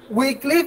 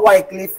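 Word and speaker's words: Wycliffe: জন উইক্লিফ অথবা ওয়াইক্লিফ, উইক্লিফ উচ্চারণটা।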